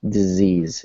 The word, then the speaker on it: disease: So with an S, instead of sounding like S, like disease, right? It's more like disease. It's a Z, right?